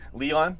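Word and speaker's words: Lyon: fee with I call is it pronounced lion I'm just gonna watch this John right Leon there you go Leon for nabil fekir plus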